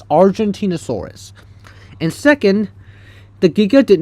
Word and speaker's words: Argentinosaurus: So, the Argentina first off, that's not how you pronounce the Argentinosaurus. Um, the Argentinosaurus over here, that's not Argantinosaurus. It's Argentinosaurus.